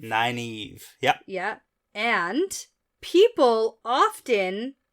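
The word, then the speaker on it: Nynaeve: is spelled not like it sounds yeah n-y-n-a-e-v-e Nina Eve nine Eve yep yep and people often mispronounce this name yeah very very often nine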